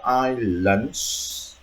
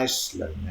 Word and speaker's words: islands: So if you answer islands, have to be at the end. Nhớ khi mình phát âm islands, chứ không phải Iceland.